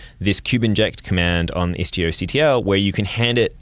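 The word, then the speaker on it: istioctl: of neat, is Istio comes with Istio CTL, or Istio Control, depending on how you like to pronounce those things. FRANCESC CAMPOY: Istio Cuddle.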